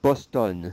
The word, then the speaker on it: Boston: Oh, for Boston, that's like an Anglicism. So, based on French reading rules, you would not pronounce that N, okay? However, because it's an Anglicism, we're going to pronounce the N.